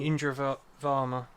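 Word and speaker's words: Indira Varma: Idema Verma, is that how you pronounce her name? Indra Varma.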